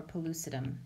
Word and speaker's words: pellucidum: we call the septum palace peles Edom or pellucidum either pronunciation is fine okay so this is a